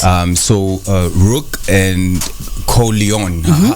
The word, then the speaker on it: Corleone: so uh rook and co leon how do you say it you got to say it like a like a mafia movie corleone like don corleone okay okay okay yeah